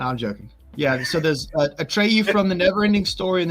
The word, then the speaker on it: Atreyu: Hannibal's son, how do you pronounce his name? Atreyu.